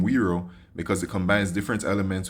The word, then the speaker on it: wero: initiative chose the name wero because it combines different elements which we stand for the collective European character of the Wii and the pronunciation close to the word Euro finally wero is close